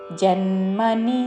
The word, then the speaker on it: జన్మని: ਮੋਢਾ ਜਨਮਨੀ జన్మని జన్మని దీర్ఘము పలకూడదు చివరిలో నీ రస్వము జన్మని జన్మని മൂഢാ ജന്മനി జన్మని